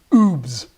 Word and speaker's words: OOB: Hey man, I call these oobs. oob, you got to pronounce like that.